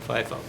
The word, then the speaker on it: FIFO: in first out now I have heard people pronounce this Leo and fifo and if you want to that's fine I'm going to say lifo and fifo now lifo and last